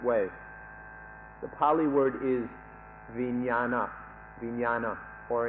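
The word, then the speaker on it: viññāṇa: The Pali word is vijnana, or in Thai it's pronounced vinyan, and it's given different meanings by different people.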